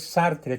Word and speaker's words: Sartre: Jean Paul sartre sartre y se pronuncia sartr porque el francés se come la e final sí Entonces corrígelo por